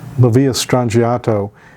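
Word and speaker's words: La Villa Strangiato: hugger in me or something I don't know lvia strato which that by the way is the correct way to pronounce it um means a strange Village or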